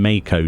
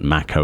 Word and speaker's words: Mako: I'll hear things the way they're actually pronounced, and I'll just do a double take instantly because it's always been Mako to me for whatever reason. But Mako it is.